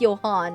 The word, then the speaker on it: Johan: What question is I say J O H A N. That's pronounced Johan, right? Am I saying this man's name correctly? Hit the second syllable harder.